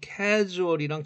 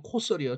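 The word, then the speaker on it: causal: 캐주얼이 아니고 코설이요. 자, 조심하세요. 코설이야. 코설. 캐주얼 아니고.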